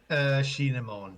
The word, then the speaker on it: Shinemon: Shinemon.